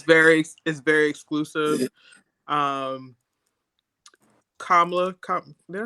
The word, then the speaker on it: Kamala: Kamala, did I say her name right?